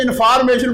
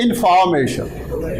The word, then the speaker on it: information: Normally people say information. Please never say information. Now, information. We write here O, but it's spoken as I.